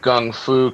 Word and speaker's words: gung fu: Richard says guy pronounced gung fu correctly.